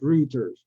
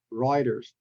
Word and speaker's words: Reuters: Nazi and the next word is Reuters not roters ruers and the last one is the most popular city in Canada you pronounce is as Toronto Toronto not Toronto Toronto